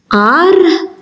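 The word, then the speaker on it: għar: So when ein is at the start of a word, you don't hear it.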